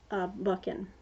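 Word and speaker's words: Buchan: his life and ideas by James buckin that's how I'm pronouncing it anyway it's a nice little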